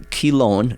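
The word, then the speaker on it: Chelone: really pretty here's one I don't know uh chillon or kilone yeah interesting let's do a podcast sometimes on pronunciations of plants because that is fun you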